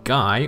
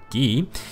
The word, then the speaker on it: Guy: i believe and it's gonna be guy or as i learned it's pronounced ghee you can get two